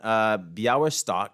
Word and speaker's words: Białystok: Jewish ophthalmologist who was living in a town, Białystok, I believe is the way you pronounce it, where the Russian Empire, who controlled